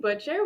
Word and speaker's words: Butcher: they are free me butcher welcome to sierra unraveled i pronounced your last name right i should have asked you that first too you did pronounce it right hi sierra thanks so